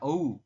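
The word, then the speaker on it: 오후: Seperti ini ya, ohu ya dibacanya teman-teman.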